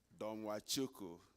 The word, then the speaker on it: Domachukwu: Thank you, and I'm glad that Enrique, you said it right, Domachukwu. For those who struggle to say the long name, it's only 4 syllables.